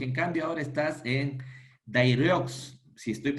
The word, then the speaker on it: Daireux: Y lo decía esto No, porque en cambio ahora estás en Daireux, si estoy sí, pronunciando bien, Daireux.